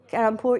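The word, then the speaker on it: Kharagpur: it's a common name, he's the one from Karangpur. Did I say it right? Yes, Karangpur, yes.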